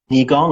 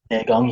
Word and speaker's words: Neigong: on Bagua, and also, I'm not sure if it's pronounced Nigong or Neigong, Yes. which is apparently Neigong, yeah.